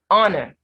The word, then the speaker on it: honor: you are in favor honor remember the h in honor of silence labor behavior vapor now